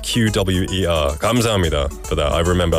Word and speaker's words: QWER: in between the things so I was like qu but um I think it's hang corrected me saying it's pronounced qw we e r kam for that I remember I'll remember that